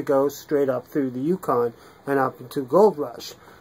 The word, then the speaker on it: Yukon: And how do you pronounce it? Yukon.